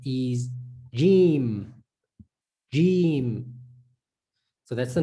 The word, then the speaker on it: Jeem: the name correctly you most definitely then can pronounce this the sound of this letter so this letter's name is jim so we know already that the sound of